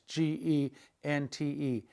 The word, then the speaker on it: gente: If you just had GE, it would be hey, hey, like the word gente, which is people in Spanish, G-E-N-T-E, gente.